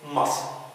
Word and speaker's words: muscle: So the C is silent. حرف هنا ساكت صامت لا ينطق in muscle and scissors.